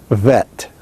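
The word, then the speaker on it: ב: And in that case, without the dogish, it is pronounced Vet.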